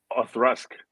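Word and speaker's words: Auchroisk: Othrusk. Othrusk. Right. Okay. Yeah. I mean, like AWE and Thrusk, like THRUSK.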